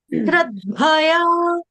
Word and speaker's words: श्रद्धया: श्रद्धया नहीं है, श्रद्धया बोलने से क्या हो जाएगा, ध आपका एक ही उच्चारण हो रहा है, दूसरे वाले ध धनुष का उच्चारण ही नहीं किया।